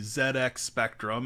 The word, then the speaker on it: ZX Spectrum: uh british mastermind behind the zx spectrum and yes i'll pronounce it that way purposely because that's the way the brits pronounce it uh died at age 81.